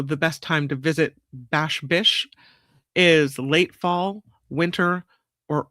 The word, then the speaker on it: Bash Bish: So, the best time to visit Bash Bish is late fall, winter, or early spring. Did I say it right? Bash Bish? Yeah, Bash Bish Falls.